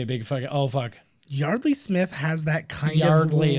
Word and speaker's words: Yeardley: That was Yeardley. No, it's Yard. I've heard people pronounce it at her as Yardley, and she's never corrected it, so I would assume She's fine with it.